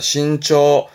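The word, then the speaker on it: 伸長: 발음은 신초합니다. 신초.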